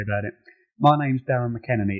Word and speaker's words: McEnaney: yourself don't worry about it my name's Darren McKenney it's an Irish name it's difficult to pronounce no one ever gets it right um